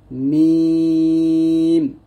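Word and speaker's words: م: দুই ঠোঁটের শুকনা জায়গা হতে উচ্চারিত হয় মিম মিম।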